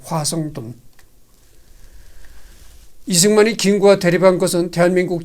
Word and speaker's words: 화성돈: 대통령이 그린 그림임을 발기했다 지금은 이제 워싱턴이라는 발음을 하는데 그때는 화성돈이라고 이제 발음을 했죠 화성돈 이승만이 김구와 대립한 것은